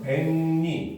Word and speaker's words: 백리: 요렇게 보시면 되죠 그다음 백리 같은 경우도 발음하면 배니 이렇게 되잖아요 그렇죠이 경우도 나중에 일어났을